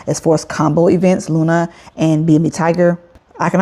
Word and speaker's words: LUNA: Now, guys, if you hear me say Luna, on Kraken, it's not L-U-N-C, it's not Lunk, it is Luna on Kraken.